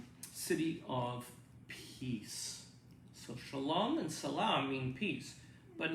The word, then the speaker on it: shalom: with my jewish friends i always say to them shalom but when i'm with my palestinian christian friends they say i say to them salam same thing but one pronounces the sh and the other one does this well let's think about